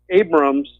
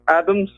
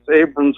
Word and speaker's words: Abrams: You heard that speech that Omar gave when she was interviewing Abrams. Did you notice that she kept calling him Mr. Adams? Like not pronouncing his name, and she pronounced Iran-Contra Iran-Chokoche?